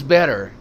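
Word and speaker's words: better: जो T sound है यह एक्चुअली सॉफ्ट डी की तरह प्रोनाउंस होता है। इसको हम सॉफ्ट डी की तरह पढ़ते हैं। For example it's बेटर इट्स नॉट it sound नहीं है। Soft D इट्स बेटर बेटर इट्स बेटर।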